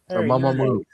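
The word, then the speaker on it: Mamamoo: Mam Mo. Moo spelled like how you would spell it if you were saying a cow.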